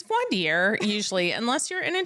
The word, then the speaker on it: voir dire: But voir dire doesn't look like it should be pronounced that way. It's often a lot of people say voir dire. Yes. Because that's what it looks like in English. It's the I would normally be the ire.